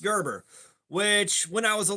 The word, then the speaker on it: Gerber: It's pronounced like the baby food. It is pronounced Gerber, which when I was